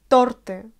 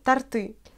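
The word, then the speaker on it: торты: Les Russes prononcent de temps en temps tarty, mais ce n'est pas du tout correct. Il faut mettre l'accent sur la voyelle O et non pas sur la voyelle U, comme on le fait de temps en temps.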